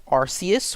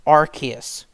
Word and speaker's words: Arceus: in my first video I insisted that I prefer to call it Arceus with a soft C but officially it's Arceus with a hard C and even though i'll